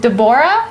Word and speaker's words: Deborah: Now, we welcome into our studio, is it Deborah?